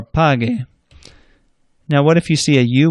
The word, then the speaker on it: pague: If you add a U right after the G, then it can make a soft G into a hard G, but the U is silent. So ge or gi. That U doesn't make a sound, but it makes it so that G is a hard sound, as in guitarra or pague.